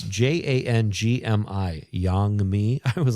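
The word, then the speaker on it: 장미: It's pronounced Jangmi. It's Jangmi.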